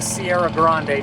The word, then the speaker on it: Sierra Grande: And again, I do want to preface, if earlier in the video I didn't say it right, this is a Sierra Grande.